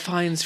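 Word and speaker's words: Fiennes: Like dude, Ralph Ralph Fines fans, however you want to say his name. Like however he says it. Oh my god. I think he says fines.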